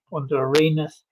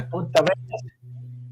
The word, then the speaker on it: Punta Arenas: I've heard two pronunciations. I've heard Punta Arena. That's the short version where the Santiago people say that. Yeah. Punta Arenas. That's what the locals say. So there's two A's, but they only say one of them.